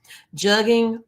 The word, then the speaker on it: jugging: Jugging rhymes with mugging is spread from Texas to South Carolina.